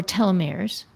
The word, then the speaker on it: telomeres: I I was familiar with telomeir um or telomeres. Is that how you pronounce it?